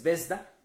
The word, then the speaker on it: Zvezda: Y hoy tenemos aquí en la redacción de la Jornada de Oriente, a ver si pronuncio bien el nombre, es Vesda, sí.